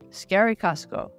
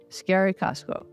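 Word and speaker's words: Eskerrik asko: the word scary and then add to that the word Costco as in the large Us store so we went around saying scary Costco scary Costco and people seemed quite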